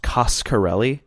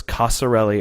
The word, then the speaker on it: Coscarelli: thing i learned for sure is that it's pronounced coscarelli okay i wasn't sure if it was casa le or costco le so i was glad he clued us in